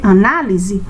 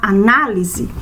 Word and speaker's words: análise: O som dela é um som aberto, é uma sílaba forte.